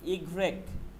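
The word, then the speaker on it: i grec: ডব্লু ভে ইক্স, এই যে ইক্স কোথায় আছে, এই যে ইক্স, ইক্স, বলেন ইক্স, ইক্স ইক্স হ্যাঁ এটা হচ্ছে ইগ্রেক, এই যে ইগ রেক, ইগ্রেক, ওকে, ইগ্রেক হ্যাঁ ইগ্রেক, এই যে এটা ইগ্রেক।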